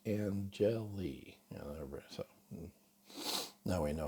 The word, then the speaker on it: Angeli: One of my agents, One Realty Corp in America, Henry Angeli, and I called him Angeli for years, and then he finally got frustrated and with everybody calling him Angeli, and said it's pronounced Angeli.